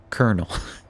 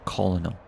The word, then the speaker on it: colonel: It's actually pronounced colonel, you know, with like an R and Like, so that my whole life I thought it was colonel.